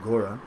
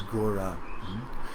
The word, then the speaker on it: Gora: it's a name for Mahaprabhu, just like G-A-U-R-A, Gora, and it's spelled similar, it's pronounced similarly.